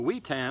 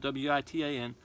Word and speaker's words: Witan: When a king died, there was something called the Witan. I think that's the right way to pronounce it. It's spelled W-I-T-A-N.